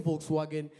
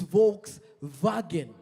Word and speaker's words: Volkswagen: If you know the popular car Volkswagen, it's not saying Volkswagen, it's Volkswagen, you know. So the W and the V are pronounced the same, which was a very weird situation for a friend of mine from Uganda.